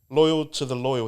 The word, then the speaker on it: Loyal to the Loyal: info but let's get straight into it bro loyal to the loyal that's how you say it Loy to Loy